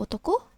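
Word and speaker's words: 男: Yang huruf di kiri bacanya otoko, yang huruf di kanan itu bacanya onna.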